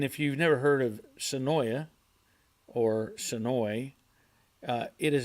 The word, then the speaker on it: Senoia: to Senoia Georgia or if you live there you have to say it wrong you have to say sonoi I think sanoi is how they say it I don't know why s-e-n-o-i-a it's Senoia um but they say it's annoy for some I don't know